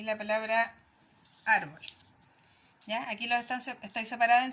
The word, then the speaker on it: árbol: Entonces, estas dos palabras son graves porque se marcan en el número 2, ¿ya? Marco y árbol. Pero ¿por qué esta sí tiene el dibujo y esta no? Como nos explica aquí nuestro amigo, ¿ya? Se escribe la tilde en las palabras graves cuando terminan en una consonante, ya como la L, o en todas las consonantes menos en la N y en la S, ¿ya?